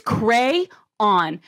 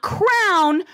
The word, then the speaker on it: crayon: Also with that, it is cray-on, not crayon, not crown, cray-on. That is how it is spelt. That is how it is said.